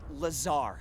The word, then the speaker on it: Lazar: and it sales liaison it's Lazar actually the accent on the Czar but yes I'm your